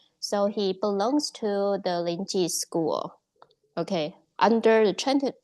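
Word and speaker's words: Linji: So he belongs to the lingi school. Okay. under the ti tradition uh among the five one is lingi or if you have studied Japanese zen is pronounced as riai linti school and so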